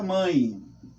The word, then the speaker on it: mãe: para vocês a palavra mãe se apertarmos o nariz e pronunciarmos a palavra mãe percebemos que o som vai sair pelo nariz é nasal olha não